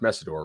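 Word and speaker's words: Mesidor: I think it's pronounced Messidor, right? Correct.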